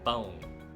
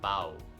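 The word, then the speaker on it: pão: is called a chill that means it should be nasalized the sound comes from the nose so from the nasal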